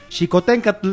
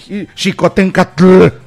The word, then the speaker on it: Xicoténcatl: Esas chingaderas, como ahorita, Xicoténcatl. Es Xicoténcatl. O sea, la TL es muda.